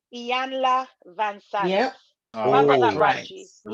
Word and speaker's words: Iyanla Vanzant: and I think I might even say this name wrong, Iyanla Vanzant.